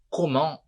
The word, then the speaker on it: comment: Em francês, na regra geral, a gente não pronuncia algumas consoantes no final da palavra. Tá? Então, vocês vão ver por várias vezes que eu não pronuncio o finalzinho da palavra. Vocês viram já na primeira frase. Eu vou voltar ali e mostrar para vocês. Então, olha só. Comment, com o T.